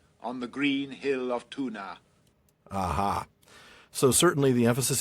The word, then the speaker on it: Túna: So, it's not that it's an issue of stress, it's an issue of really enunciating that A and pronouncing it instead of making it a like a sort of a a schwa, I guess is what it would be.